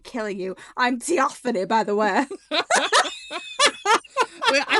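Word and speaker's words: Theophanie: like t it's spelled t h e o p h a n i e. Theophony theophony like least intimidating that like you're welcome for not killing you.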